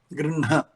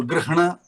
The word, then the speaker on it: गृह्ण: See, we write grihna, but pronunciation grinha, and there is a reason for it, of a phonetic reason, that an anunasika cannot stand up by its own, so it needs a support of a vyanjana or a swara after that. So grihna cannot be pronounced, it has to be grinha.